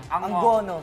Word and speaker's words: Angono: o kti k Hi Pat ano bang talagang pagpronounce Don Angono ang gono Angono Angono ang ' ba unang tanong kung pupunta